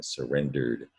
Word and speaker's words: surrendered: past tense verb surrendered but you don't hear eevee you just hear a d it's one of the rules about evie ending surrendered surrendered three syllables third word i showed